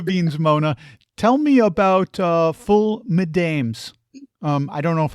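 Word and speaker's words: ful medames: Mona tell me about full mams um I don't know if I'm pronouncing that correctly full mam it's full mamis you pronounced yes now we are Egyptian PR you see you pronounce it good good good good so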